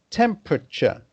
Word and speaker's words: temperature: Once again, you have to pronounce this word clearly at the beginning, clearly at the end, but in the middle you must abbreviate it. So it's pronounced temperature, temperature.